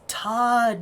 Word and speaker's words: TOD: saying it wrong this whole time. It's Todd, not God.